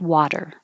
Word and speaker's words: water: that position and then the T in water changes to a flap or a d navigate water and we have some